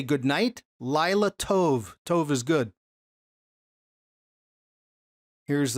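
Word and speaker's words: לילה: Delilah sounds very similar, or sounds like and is spelled just like the Hebrew word for night. The Hebrew word for night is Lila. So if you want to say good night, Lila Tov.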